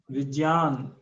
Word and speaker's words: विज्ञान: तो इसको जब आप प्रोनाउंस करेंगे तो इतना मतलब शॉर्ट में इसको करना है कि वो आपको जा और या अलग अलग नहीं आए, क्योंकि ये संयुक्त अक्षर है, तो उसके जो विज्ञान,